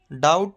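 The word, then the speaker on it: doubt: रहता थम होता है डाउट में बी साइलेंट लैम नहीं होता है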